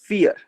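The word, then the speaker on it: vier: वियर. हम इसका उच्चारण कैसे करेंगे? वियर. वियर, तो यह V है। यहाँ यह 'F' की ध्वनि देगा।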